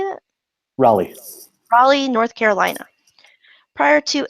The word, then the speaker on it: Raleigh: Raleigh.